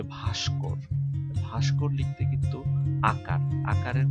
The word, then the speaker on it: ভস্ম: ইত্যাদি ঠিক তেমনি ভাবে ভস্ম শব্দটার উচ্চারণ কিন্তু ভস কেউ আবার ভস্ম বলবেন না ভস্ম তেমনি ভাবে ভাস্কর মনস্ক